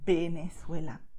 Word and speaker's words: Venezuela: You see, my two lips are touching when I say Venezuela, okay? That's the official Spanish, okay?